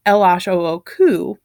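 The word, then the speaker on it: L.H.O.O.Q.: anything but it does if you say the letters in French ela sho oku they sounds like the words that also sound they sound like the French words for she has a hot butt so he took the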